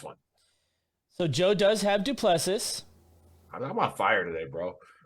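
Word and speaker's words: Du Plessis: So I think they pronounce it Duplessis. He's South African.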